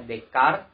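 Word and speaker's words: Descartes: dimulai oleh dekat Rene day care tulisannya dkayed ketoprak pergi tapi kita bacanya dekat ia mengatakan ada istilah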